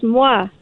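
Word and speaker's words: moi: is because he says mwah, which is French, plus the sound of a kiss. Yes. Is that the right answer? Well, it's the fact that it's mwa and it rhymes with la.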